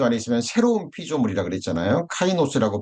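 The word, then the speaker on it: καινός: 카이노스라고 발음이 되는데이 새로운이라는 거는 본질적으로 새로운 겁니다.이 처음 창조에 속한 것이 아닌 하늘에 속한 완전히 영광스러운 영화로운 것들이라는 걸 의미해요.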